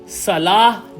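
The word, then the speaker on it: صلاة: इसलिए जो प्रोनाउंसिएशन है उसकी सलाह है।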